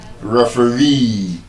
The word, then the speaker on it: referee: In Nigeria, normally we call it referee, and the correct pronunciation is referee. The stress on that last syllable. Referee, not referee. Referee. The stress is on the last syllable.